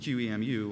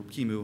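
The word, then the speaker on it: QEMU: He basically used QMU or Kimu, however you want to pronounce it.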